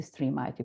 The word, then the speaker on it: STREAMIT: a different pronunciation uh as a coordinator I pronounce it a stream it uh project uh let